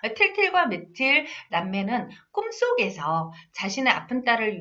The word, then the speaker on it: 미틸: 외국어 발음이라 미칠을 이렇게도 저기 하거든요. 말을 하기도 하더라고요. 전 미칠로 알고 있었거든요. 틸틸과 미틸 남매는 꿈속에서 자신의 아픈 딸을 위해 행복의 파랑새를 찾아달라고 하는 요술 할머니를 만나요.